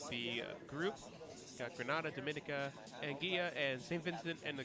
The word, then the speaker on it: Anguilla: I believe locally it's pronounced Anguilla, but it's about 5 different pronunciations that you could really realistically go with, and it wouldn't really be wrong.